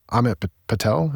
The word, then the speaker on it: Amit Patel: And so I wanted to start with the case of Amit Patel. Is that how you pronounce his name?